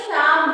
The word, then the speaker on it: psalm: इसी तरह PSALM, इसको शाम बोलेंगे। P भी इसमें साइलेंट है, L भी साइलेंट है, ठीक है? L इसलिए साइलेंट है कि L के बगल में मम्मी बैठी है, M बैठा हुआ है, इसलिए L नहीं बोलेंगे।